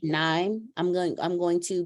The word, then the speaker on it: KNIME: Like dime, I'm gonna say NIME.